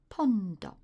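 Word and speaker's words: ポンド: the first time because in Japanese they become Pond Pond but a pond is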